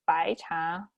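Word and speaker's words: 白茶: And for white tea, which is pronounced as 白茶, literally just white tea, you can see it's very easy.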